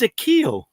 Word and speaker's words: Akio: And one of the lessons, Master, and it's actually pronounced, sorry, I should have said this to you off camera, but it's Akio.